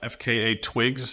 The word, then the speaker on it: FKA twigs: starring Bill Skarsgård and FKA Twigs. Is that how you pronounce her name? Yep. You just spell it out like that.